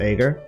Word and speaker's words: Ager: But the funny thing is that nobody understands that Ager is pronounced Ager.